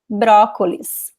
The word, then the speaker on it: brócolis: Same thing with brócolis. Brócolis. So you have the accent, you know this is the stressed letter.